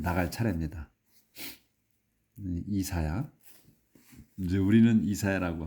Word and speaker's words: 이사야: 이사야 이제 우리는 이사야라고 하는데 영어로 이제 할 때는 아이지아라고 합니다.